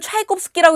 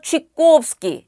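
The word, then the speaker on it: Чайковский: 이 예는 여러분들 러시아의 유명한 작곡가 차이콥스키를 러시아인들은 차이콥스키라고 읽지 않는다 그랬죠. 차이꼬의 꼬의 우다리엔 예가 있어요. 그래서 취꼬프스키, 액센트 앞에 있는 촤는 이로 읽는다. 취꼬프스키, 취꼬프스키.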